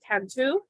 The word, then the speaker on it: Cantu: Our presenter today is Stephen Cantu. Is it Cantu or do you pronounce it differently? Cantu, but close enough.